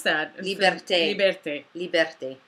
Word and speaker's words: liberté: How would you pronounce that? Liberté.